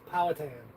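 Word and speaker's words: Powhatan: used to live in pohan Virginia there's a pow Hatten tell her how to say it tell her how to say it po hat it's patan oh well in Ohio it's poan in Ohio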